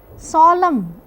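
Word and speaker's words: solemn: एल ई एम एन इसमें में सोलम एन साइलेंट है।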